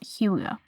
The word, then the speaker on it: hygge: It's from denmark.dk and it is what do we mean by huga? I keep on pronouncing it a different word, but it's pronounced huga.